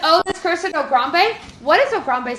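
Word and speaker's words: Ograbme: You can spell it as oh grab me, but it is also on the board. Oh grab me. It's also pronounced ogrambe.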